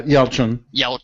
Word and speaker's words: Yelchin: Yeah, Yelchin.